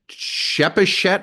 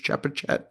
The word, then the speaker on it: Chepachet: Amy is writing from Shepachet, Rhode Island. It's spelled Chepachet. I'm assuming a soft C on that, Shepachet. Maybe it's Chepachet.